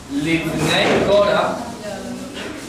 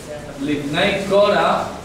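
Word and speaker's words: לִבְנֵי קֹרַח: Bien, voy a copiar las tres palabras, la pronunciación en hebreo. Lam Natsea. Para el victorioso. Para el victorioso. Livnei Kora. Livnei Kora.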